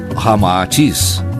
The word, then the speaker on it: Ramatís: feminino unindo-se rama heats cita ao inverso resulta ramatis como realmente se pronuncia em inglês chinês informa ramatis e após